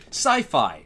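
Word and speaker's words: Syfy: even not relating to, sci-fi, science fiction, right? Even though it's spelled S-Y-F-Y, it's supposed to be a pun on science fiction.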